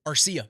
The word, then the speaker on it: Arcia: Arcia.